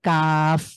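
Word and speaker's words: قاف: কফ উচ্চারণ করাকালীন আমরা দেখেছি আ আমাদের জিভের গোড়া তার তার উপরের তালুর সাথে লাগিয়ে ক, একটু ধাক্কা, ক, কি, কু।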